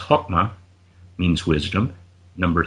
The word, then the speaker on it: Chokmah: Number 2, it's pronounced Chokmah, means wisdom.